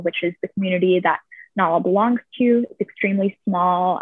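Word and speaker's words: Najla: So I apologize if I'm mispronouncing this name wrong, but it's Nala, N-A-J-L-A, I believe.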